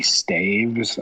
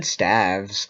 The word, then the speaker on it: staves: know um it's actually if you're plural it would be staves i believe i said stavs i thought that was how you pronounced it i think we can